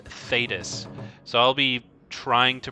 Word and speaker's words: Thedas: actually the cune and also I've been saying fetus and I think someone told me it's actually pronounced thedas so I'll be trying to pronounce it as thedas but if I don't say thedas and I say thetas it's just a bad habit that I I